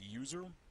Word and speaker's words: usr: or service sys temp usr which is often pronounced user but stands for universal